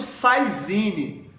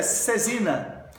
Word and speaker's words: saisine: que galera cesina cesina o pessoal fala muito saisine ou cesine a pronúncia em francês é cesina cesina essa é a pronúncia correta Ok não é saisine